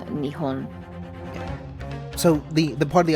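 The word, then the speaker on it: 日本: Okay, Nippon is also technically a formal way of pronouncing the native name of Japan, Okay. but I think it is mostly called Nihon.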